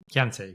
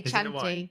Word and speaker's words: Chianti: Kanti. Kant. I say Chanti. Kanti. Kanti.